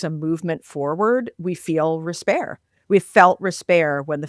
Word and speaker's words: respair: essays, a new term, respair. It's actually an old term. It's a term from England in, the 1500s or something. Respair, spelled like despair, but with an R instead of a D.